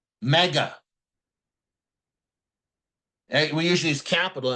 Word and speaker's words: mu: Greek this this is called the Greek letter me spelled mu it's pronounced like a kitten says me all right